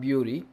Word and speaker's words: bury: It's not bury, it's not bury. B-U-R-Y, bury. It rhymes with merry, cherry, very.